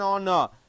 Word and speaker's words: honor: to meet you an honor it starts with H but pronunciation o so an honor to